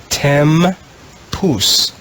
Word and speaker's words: tempus: The next word in the green row is tempus. Tempus. Tempus has 2 syllables, and it's the Latin word for time.